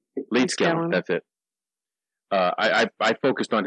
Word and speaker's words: Leedskalnin: So in my research, I focused on Edward, how do you pronounce his last name? Leedskalnin. Leedskalnin, that's it.